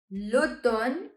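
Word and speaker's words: automne: lender m which is silent in few words like Luton which means Autumn Luton as you can see I'm having the pronunciation of n but not m next word ever hair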